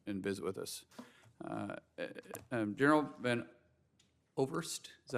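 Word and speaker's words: Van Ovost: General Van Overst, is that how you say it? Van Overst. Okay, I'm sorry we don't pronounce that often from Oklahoma.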